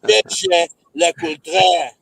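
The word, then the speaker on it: Jaeger-LeCoultre: It's JJ Lacote. Eddie's been doing his homework. Eddie's been drinking. Don't have it, man. It's JJ Lacote. So if you don't say it right, don't fucking say it, man.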